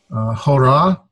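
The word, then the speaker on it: ὥρα: Hora, there's my rough breathing, so I put my H sound in front of it. Hora.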